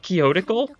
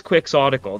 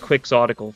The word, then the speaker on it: quixotic: Fates and I was like wait is it pronounced quick soical not kotal but it sure is quick soical that's the that's the acronym form of kyote